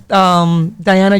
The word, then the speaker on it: Daiana: You can find me at Instagram and Facebook as Diana, just the way that it sounds.